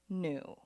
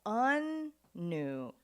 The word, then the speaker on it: Anu: Like, not new, with the emphasis on the first syllable, un-new.